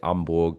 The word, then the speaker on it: Hamburg: We move to Hanborg hosting uh Busha Dortmund and I'll say Amborg because it's the H is silent.